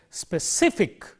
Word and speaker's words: specific: preceding eek EEE stress therefore we say specific when we say that we highlight this syllable specific and characteristic characteristic